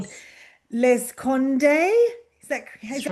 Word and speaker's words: Le Seconde: It's called Yes, Les Conde.